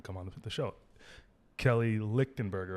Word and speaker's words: Lichtenberger: Kelly Lichtenberger, right? That's how you pronounce it.